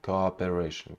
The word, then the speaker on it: cooperation: go operation go operation first syllable is unstressed call and upper it's stressed up go go operation go operation cooperation cooperation this their social